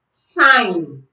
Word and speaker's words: sign: B is silent before N in some words. For example, sign, rain, foreign.